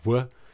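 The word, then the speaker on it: Ł: oh this she's got this L with like a little dash through it which is pronounced woo it's super confusing their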